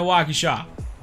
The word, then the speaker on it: Waukesha: started on the Waukesha I grew up on the Waukesha that's how to pronounce it it doesn't matter other people pronounce it differently uh you know take